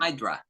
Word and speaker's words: Hydra: um Ginos yes H idra do you know idra Hydra Hydra HRA Hydra Hydra ah Hydra ah okay